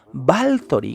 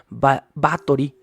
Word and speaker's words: Báthory: como Lore en español según él la pronunciación correcta de este nombre de los balcanes es balthor con una L A pesar de que se escribe con solo th B a t h o r i y batori sería la pronunciación más tradicional y el 90 por